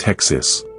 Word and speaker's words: hexis: He called this concept hexus, pronounced hexis. It's your settled, reliable character, your default setting.